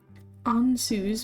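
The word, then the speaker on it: Ansuz: Ansus means mouth.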